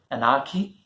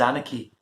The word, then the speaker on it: anarchy: pronunciation of the word did you say anarchie your answer is wrong exact pronunciation is anarchy there was absolute anarchy